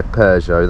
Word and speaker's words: Peugeot: all right how do I pronounce that run uh Peugeot yeah Peugeot that's the one just have to fill in